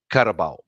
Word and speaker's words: carabao: Yeah, if you hear her call them carabao, they call it a carabao, and the way they pronounce it's like carabao.